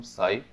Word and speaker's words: psi: इसको हम स्पेल करते हैं PSI से। पी साइलेंट है तो ऐसे बोला जा रहा होता है, वर्ड बिकम साई।